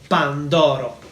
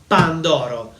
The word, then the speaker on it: pandoro: is not a panettone, this one is a pandoro. Pandoro. So, the two most popular Christmas desserts in Italy are the panettone and the pandoro.